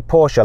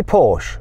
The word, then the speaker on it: Porsche: Anyway, do you say Porsche or Porsche? I say Porsche, and I say BMW, not BMW. You see, in England, right, motoring journalists will say Porsche the German way, but they don't say